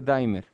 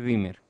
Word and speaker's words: dimmer: ¿Quiénes pensaban que se dice dimer? Se dice dimmer, ¿ok? Porque lleva dos M. Si fuera una sola M se pronunciaría distinto.